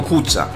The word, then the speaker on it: kca: Nazwa może być związana ze staropolskim wyrazem kca, wymawianym też jako kuca, oznaczającym szopę z desek.